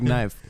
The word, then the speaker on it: knife: with a silent is K nephew it's like knife yeah knife you well uh that's probably going